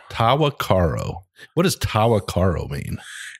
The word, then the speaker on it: Tahwahkaro: It's a name that's not easy to pronounce. Tahwahkaro. Tahwahkaro.